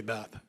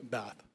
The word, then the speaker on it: Bath: Um, you can just say Beth. How how do you pronounce your last name? I do pronounce and say Bath.